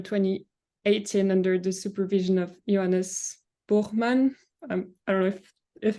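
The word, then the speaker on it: Johannes Buchmann: you thank you very much for the introduction yes bman is the correct pronunciation also otherwise your pronunciation was on point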